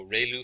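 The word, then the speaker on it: ReLU: We have the ru is pronounced like ray the ray from the sun and lu like a name. So ru function.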